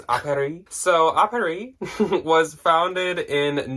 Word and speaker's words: Apparis: I think it's pronounced Apparis. Like, it's like App Paris, but I think it's Apparis.